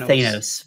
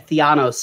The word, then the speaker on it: Thanos: Oh yeah, this guy's he calls him Thanos, but yeah, Theanos. It's got a little flair on the end, but yeah, it's Ant-Man.